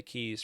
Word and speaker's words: quay: But yes, it's like it's actually you can pronounce it as key as you think of like the Florida Keys, right?